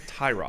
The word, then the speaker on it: Tyrod: His name's Tyrod. He wasn't trolling people or like pranking them saying that actually my name's pronounced His name's Tyrod.